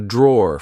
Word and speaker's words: drawer: Like I said, be careful because in British English, we don't pronounce the e at the end. We just say draw.